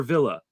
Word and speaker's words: Villa: a great uh thing is it pronounced via or villa uh villa via either one my last name is via